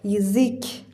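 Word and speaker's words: язык: آ میده یا بلاکا ولی تو کلمهیک اینجا یا بدون تکیه هست پس صدای ای میده و اینجا اینکه تکیه داره بلندتر خونده میشه یزیک یزیک یزیک یزیک تکرار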